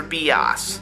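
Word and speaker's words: Bias: by the evil professor B oz stop giggling and for those about to write a comment saying I'm doing it wrong that's how it's pronounced he and his three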